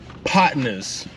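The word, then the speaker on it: Podnah's: a spot called uh potnas uh rib spot here in Portland Oregon again it's spelled potnas it's not spelled how you think but I'll put it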